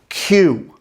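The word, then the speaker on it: queue: but refrigerator isn't and this one has got to be the king of words with silent letters q it's just the letter q followed by four silent letters in a row let's look at a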